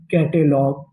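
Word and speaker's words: catalogue: कैटग कैटलॉग कैटलॉग।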